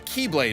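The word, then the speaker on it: χ-blade: He's also survived this huge explosion from when the Keyblade was destroyed. Yeah, he means the X-Blade. It's just pronounced like Keyblade, even though it's just one Keyblade.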